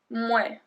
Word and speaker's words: mouais: And the other one is mouais, mouais, mouais. So we make a really long M in front of it.